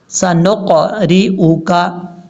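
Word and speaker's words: سنقرئك: سنقرئک، سنقرئک، نون کو جب قاف سے ملائیں گے تو قاف میں باؤنس آئے گا، سنق، کیونکہ یہ حروف قلقلہ میں سے ہے، سنقرئک، اس طریقے سے۔ اب ہم اس کو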